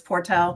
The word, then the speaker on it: Portel: My maiden name is Portal, P O R T E L. And so anytime we would have so any sort of like singing competitions or something, I was Portal.